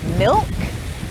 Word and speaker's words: milk: example in the word milk the l is pronounced but in the word yolk the l is silent milk milk yolk yolk in the word shoulder the